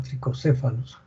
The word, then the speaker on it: Trichocephalus: El agente etiológico de esta tricocefalosis o tricuriasis es el Trichuris trichiura, también llamado trichocephalus, pero se pronuncia tricocefalus, trichiura, ¿no?